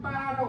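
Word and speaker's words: 八: 북경에서 올림픽을 할 때 8시 이 중국에서 이 팔이 빠라고 발음되는데 빠가 뭐냐면 발전할 때 발자하고 똑같아요.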